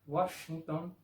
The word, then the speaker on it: Washington: Por ejemplo, en algunos nombres propios como Vando, el sonido es de V, y en nombres propios como Washington, el sonido es de U.